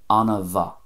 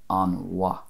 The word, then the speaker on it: an-mhaith: Anna va, Anna va. Whereas in the other dialects, it would most likely be an wa, without that little extra vowel in between an and va there.